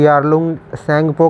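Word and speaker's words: Yarlung Tsangpo: तिब्बत में से इसे यारलुंग सेंड फोन कहां जाता है यार लुसेंट को ऐसे लिखा जाता है बट सैनिकों की स्पेलिंग कुछ ऐसी होगी है क्योंकि टीम यहां पर साइलेंट है दो सेटिंग को बोला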